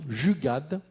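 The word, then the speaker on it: jugaad: Vous avez popularisé dès 2013 ou 2013 le concept d'innovation Jugad. Je ne sais pas comment ça se prononce.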